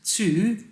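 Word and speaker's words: Thy: Wool Days 2, you write it like T-H-Y, but you pronounce 2 in Danish, as I've been told.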